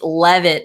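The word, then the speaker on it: Leavitt: for you guys yeah oh it's levitt not leave it so i've been saying it wrong isn't it what it's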